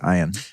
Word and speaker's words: Ian: yeah i'm stoked uh why is your name spelled like ian but pronounced iron because it's phonetically correct